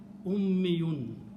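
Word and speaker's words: أمّيّ: If you pronounce this word this way, shadda and a ya, ummi, and always last letter should have it to the mas. So it will be ummiyun.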